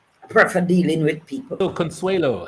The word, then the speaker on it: Consuelo: little thing we did not know the proper pronunciation until when I just before Mannings okay we we used to say consulo but um a gentleman another teacher that um knew it told us that it was Consuelo right so that's how I got it and